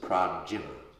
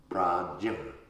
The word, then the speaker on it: prajñā: When you say jñā, you kind of put it in your nose. Prajñā. Prajñā. Yeah, it's like you're going to say Janet, but you went Janet.